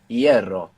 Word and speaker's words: hierro: So they look totally unrelated, but if you know that the F became a silent H and that the E split into IE, you can see the connection between hierro and ferrocarril.